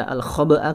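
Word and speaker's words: الخبء: Ya, dan cara membaca al-khoba'a ketika wakof sebenarnya sudah cukup dibaca seperti itu. Al-khoba', al-khoba'.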